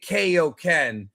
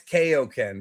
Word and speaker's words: Kaioken: That's why it's Kaioken, bro. And Saiyan. It's Saiyan and Kaioken. AI is I, not A.